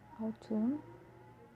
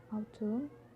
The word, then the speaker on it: autumn: it's actually silent, and when the letter N next to M, for example, damn, damn, autumn, autumn, him, him, column, column.